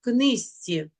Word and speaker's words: книжці: у тебе рідна мова пишемо книжці вимовляємо книзці річиці вимовляємо річиці повернімося